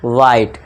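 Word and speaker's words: white: है, vowel letter है, तो यहाँ पे एच क्या हो जाएगा हमारा, साइलेंट हो जाएगा। इसे क्या पढ़ेंगे हम, वाइट।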